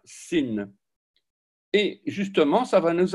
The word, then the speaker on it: sin: Un point à gauche et l'on prononcera sin.